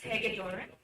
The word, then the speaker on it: Hagedorn: It's pronounced as Hagedorn.